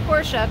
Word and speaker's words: Porsche: the car the porsche yes i know it's pronounced porsche but i've been saying poor since i was eight years old and i'm